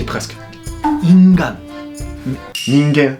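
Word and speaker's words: 人間: Non, mais la prononciation que tu as fait, tu y es presque. Ingan. Ningen. Ningen.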